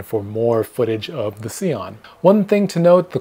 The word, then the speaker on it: Sion: here by the way he said it is pronounced seon but they don't care if you say Scion I'm going to say